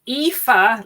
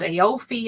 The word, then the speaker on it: Aoife: So basically, Aoife, like FIFA football federation thing.